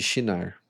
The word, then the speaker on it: Sinar: Ieked e Keoné, na terra de Xinar, né? Em uma tradução tá escrito sinear e a outra tá escrito sinar, mas a pronúncia seria como se fosse um X.